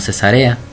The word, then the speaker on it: Cesárea: ante Félix el gobernador de cesárea algunos lo pronuncian como cesarea dice pero te confieso